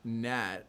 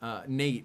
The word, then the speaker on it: Nate: Wait, you noticed wait, I just noticed you pronounced my name Nat and not Nate, not Nat, which is short for okay.